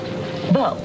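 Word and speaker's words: veau: They write down the word, the French word, V-E-A-U. And then they write down how it sounds, V-O. Beau. Rhymes with no.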